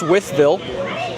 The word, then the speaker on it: Wytheville: But it is pronounced Wytheville.